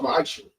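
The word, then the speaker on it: מעשר: Means 10th in Hebrew and it's pronounced ma'asher.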